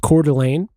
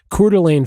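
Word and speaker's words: Coeur d'Alene: um on uh Canfield Mountain just north of uh I think it's pronounced Cordelane uh when smoke started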